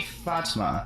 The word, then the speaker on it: Fatma: with a choreographer named Fatma which I'm sorry if I mispronounced her name I listened to about five different ways to pronounce his name and it seems to be Fatma so Fatma claims that